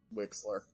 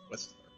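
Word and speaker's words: Wexler: Wixler. It's Wixler. You mean Whistler. No, it's got an X in it. Yes, but in this instance, the X is pronounced as S. It's Whistler, not Wixler.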